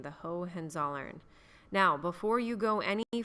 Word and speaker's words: Hohenzollern: ruled in Prussia is known as the Hohenzollern that is how you say that last name the Hohenzollern now before you go